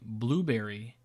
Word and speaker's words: Blubrry: Most recently, we are featured on the Blueberry channel, which is spelled BLUBRRY.